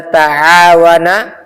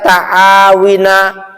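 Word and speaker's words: تعاون: Tidak mungkin dibaca taawina atau tarasila ya atau dibaca tarahuma. Enggak. Semua wazannya tafa'ala gitu ya.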